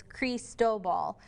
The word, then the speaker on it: Cristobal: wonder how to say it's creased dough ball which of course is Spanish for Christopher so that's why it's set like that going to make landfall